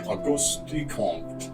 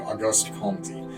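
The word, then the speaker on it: Comte: philosophical thinking that was founded by AUST comp or if you want to pronounce it as we Americans do AUST compy uh who was a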